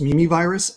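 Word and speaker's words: Mimivirus: in its genome um it's spelled m-i-m-i but yeah it's pronounced mimi virus and it stands for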